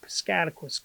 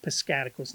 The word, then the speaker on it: Piscataquis: So in northern Maine, you got Aroostook County in kind of most of the northern part, maybe halfway up of Piscataquis County, as I have pronounced these countries too, not counties, not countries, but counties.